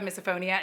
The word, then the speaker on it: misophonia: okay so this i understand because people have misophonia is that how you say did i finally